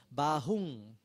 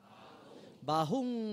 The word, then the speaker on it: bahu: over arching gouging hook the first word is challenging is called BA whom not M sound home ba ba whom whom home okay home bahu bahu mae sariang ent batani van